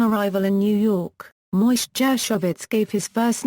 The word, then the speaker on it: Gershwine: His birth certificate bears the name Jacob Gershwin, which would have been pronounced Gershwin in the expat Russian neighborhood.